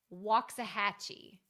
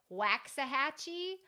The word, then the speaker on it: Waxahachie: and die inside when people try to pronounce it a lot harder than it is and they say Waxahachie or Waxachachi. I've heard some really, really weird ones before.